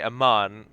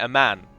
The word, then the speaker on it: Amman: So rather than Amman, the way I say Amman, he was calling it a man, like as if it is the word a man.